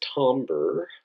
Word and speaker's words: timbre: bit of time on this is known as tomber yes that's pronounced Humber and this is the